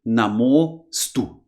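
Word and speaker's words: नमोऽस्तु: And we mark this in Devanagari by adding like a kind of S looking sign. But we don't pronounce that. Simply Namostu.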